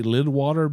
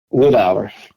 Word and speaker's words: Lidawer: uh with and I want to say Lidwater, but I'm pronouncing it wrong. So, tell me the correct pronunciation of your name. Lidau.